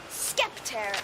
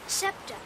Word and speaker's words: scepter: as I hold this skep in my hand skep what's a skep scepter it's pronounced scepter it's sort of a